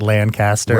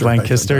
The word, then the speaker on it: Lancaster: uh Lancasterians out there, you actually pronounce Lancaster correctly. So from where we're from that that means it's not Lancaster, right? Not Lancaster. It's Lancaster. You always put a kiss in the middle middle there.